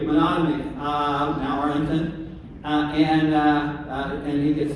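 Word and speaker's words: Menotomy: I can't pronounce it. Monotony? Somebody help me? Monotony, thank you. Monotony.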